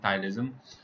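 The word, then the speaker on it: ptyalism: hypersalivation that is called thyroidism p is silent over here usually this is due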